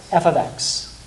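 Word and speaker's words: f(x): The f parenthesis x, you don't say it like that, but yeah, Abby? F of x.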